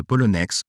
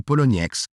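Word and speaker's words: Poloniex: le récent incident de polonex ou polonnex comme certains le prononcent cet échange a été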